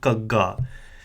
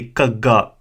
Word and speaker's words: ਘ: It's a Gaga, and it's a very strong aspirated G sound that will be attained through constant practice.